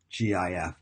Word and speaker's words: GIF: You can even use this to create your own GIF, GIF, G-I-F, it's actually pronounced GIF.